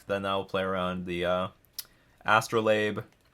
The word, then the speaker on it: astrolabe: I'll play around the astrolabe which I've been pronouncing wrong the entire time as you have all discovered yeah I was calling it a strobe light I thought it was